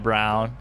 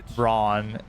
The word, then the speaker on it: Braun: Brown. Or I hate the way it's spelled versus said. Like Christian Brown, Braun 5 points.